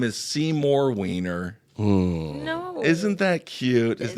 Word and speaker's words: Wiener: His name is Seymour Wiener, and he was the viral super Is it fan. Wiener or is it Weiner? It's Wiener. Wiener. It's Wiener. We know this from Anthony Weiner. Spelled the same way.